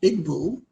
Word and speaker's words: Igbo: that i'm connected with the ibu culture i did not know anywhere or pronounced igbo i did not know